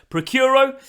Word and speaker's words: Praecuro: in providing Veterinary Services procuro that's how I'm going to pronounce it throughout the rest of the video series don't know whether that's actually how you do pronounce it but let's go with it procuro vet services now